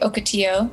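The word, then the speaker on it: ocotillo: do you pronounce it i've mostly heard it been said like okatio it's a plant it's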